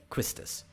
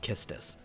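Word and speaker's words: Quistis: tisu or like kistis because she's a kiss tease so her name is probably supposed to be pronounced kistus and her last name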